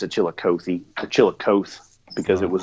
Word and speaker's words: Chillicothe: There's a river that goes through a small town called, the town's name is Chillicothe. Right. And so I think he pronounced it Chillicothe, or Chillicothe, because it was like E on the end.